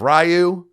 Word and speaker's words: Ryu: pronounce that name of ryu oh man i hate that no it's ryu because dragon that's what it is sorry everybody or ryu ryu is also acceptable yeah but ryu ryu hayabusa also ouch so